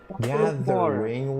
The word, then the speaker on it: gathering: job Gathering water the the tendency is to say w to make the the sound Gathering water see what I do with the pronunciation GA theing the tongue goes between your teeth water Gathering water again